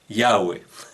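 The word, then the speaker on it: Yahvé: enciclopedia judaica sabemos que la pronunciación original de este nombre es yagüe fíjense qué interesante cuál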